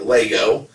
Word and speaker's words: Lego: people collect lego or i always say legos but like nevada it's pronounced lego so you don't pronounce